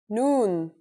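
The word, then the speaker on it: نون: in Arabic that's noon the noon is pronounced just like the English n pretty easy right it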